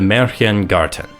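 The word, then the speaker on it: Märchen Garten: with the biggest part the meran gartan yes that is how it is pronounced in game the meran Garten is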